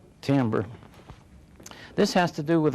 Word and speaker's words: timbre: Dealing with sound alone is what we call timbre. Spelled that way, but pronounced timbre.